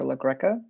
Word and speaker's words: Lagreca: members of the jury my name is dr legreca last name is spelled l-a-g-r-e-c-a now dr look greco what is